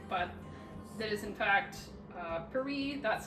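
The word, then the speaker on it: Paré: I'm told on good authority that that is how you say her name, not Paris as you might think, but that is in fact Paris.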